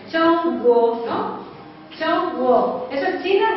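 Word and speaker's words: 中国: ¿Lo pronunciáis, güey? ¿Cómo? Chong. Chong, con un T con un S. Chong, guo, ¿no?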